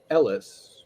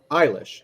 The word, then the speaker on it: Eilis: Farrell the Irishman Who falls in love with Ellis nope eilish sorry there was a bracket with pronunciation can you start from the beginning please